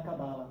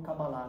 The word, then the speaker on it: Cabalá: E também os ensinamentos gerais da tradição judaica da Cabala, ou Cabalá, né, que seria a pronúncia mais correta.